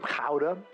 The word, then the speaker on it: gouda: I have here some ka, which is how you're actually supposed to pronounce gouda.